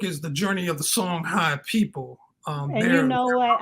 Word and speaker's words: Songhai: Songhai. Some places you will see it spelled HAY, but it's pronounced I. Songhai.